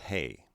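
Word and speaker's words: ἡ: ha the next form the feminine begins with a rough breathing followed by the vowel eta which is pronounced a rough breathing plus ada then is pronounced hay lastly the neuter form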